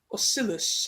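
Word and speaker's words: Ocellus: is a dragon, and Oscillus, I believe that's how you pronounce it, is a changeling, and Silverstream as well, who's a hippogriff.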